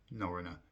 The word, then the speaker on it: Norröna: It's actually MV Norröna. Norröna is how you pronounce it, the MV Norröna.